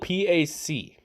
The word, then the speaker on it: PAC: It's spelled P-A-C. When I see that, I think Tupac. So I say Pac.